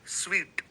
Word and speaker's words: suite: Meta business स्वीट, ये SUITE है, लेकिन इसे जब हम प्रोनाउंस करते हैं तो SWEET, स्वीट, मीठा, वैसे स्वीट कहते हैं हम इसे.